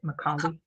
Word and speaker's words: Macaulay: Macaulay?